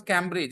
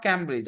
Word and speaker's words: Cambridge: Yeah, we don't pronounce Cambridge. Everybody in Bihar Sharif, it is not Cambridge.